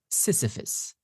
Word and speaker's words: Sisyphus: Again, as I said before, it is Sisyphus, the myth of Sisyphus.